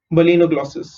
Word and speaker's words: balanoglossus: B is B, L is lay. Okay, not la, it's lay.